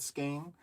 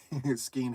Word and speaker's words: skein: I don't like to pronounce mine with Skeen, even though that's probably the right way.